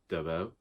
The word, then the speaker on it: Dabos: Now, according to a review that I saw last night, I should actually be pronouncing that last name Dabos, but I have no